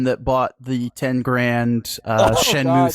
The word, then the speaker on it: Shenmue: shen Shenmue III I've never learned how to pronounce that word I think he's Shh it's Shenmue Shenmue okay no I did not I did